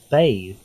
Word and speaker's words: bathe: that she could bath but hey it's pronounced bathe dude what are you doing